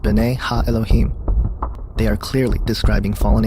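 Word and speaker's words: בני האלהים: of god mentioned here in the hebrew is pronounced binay ha elohim they are clearly describing fallen angels we know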